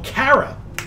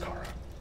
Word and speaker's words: Kara: what they called her car spelled like carob pronounced cara oh he doesn't open